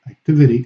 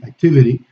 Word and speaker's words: activity: Okay, in the US, the T in unstressed syllables, okay, like activity, activity, is articulated with a flapping of the tongue.